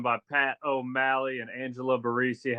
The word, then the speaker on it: Barresi: Actually, no, it's Barresi. Oh, okay. What is it? Go ahead, tell the people. It's Barresi.